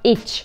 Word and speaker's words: itch: Itch. I have an itch. Itch. Каждый. Itch. А тут парень произносит слово каждый.